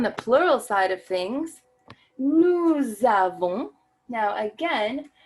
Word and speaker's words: nous avons: Now again, that A that begins avons signals that that S that ends nous is normally not pronounced, but that is suddenly going to be pronounced to create that beautiful liaison. Nous avons.